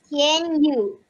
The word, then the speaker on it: Yew: The U is not Y-O-U, but instead of Y-O-U, it is Y-E-W, because my name is Tian Yu. You represent me, my name. And it also has the same pronunciation with Y-O-U.